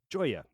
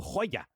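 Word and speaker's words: Joiya: and she has a daughter Joya or Hoya depending on how you want to pronounce it IG is studying to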